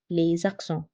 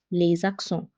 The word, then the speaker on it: les accents: When S is followed by another word starting with a vowel, it's pronounced as Z. Les accents.